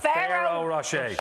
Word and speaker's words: Ferrero Rocher: A Ferrero Rocher.